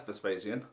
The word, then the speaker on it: Vespasian: So Vespasian Security, pronounced and reliably told as Vespasian, was started by our figurehead Mr.